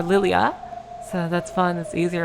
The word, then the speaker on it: Lilja: couple of different pronunciations Lilja as I was saying is actually pronounced more lilia so that's fine that's